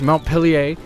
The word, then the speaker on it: Montpellier: So this is the new 2D platformer from Ubisoft Montpellier, I believe is how they pronounce it in France land.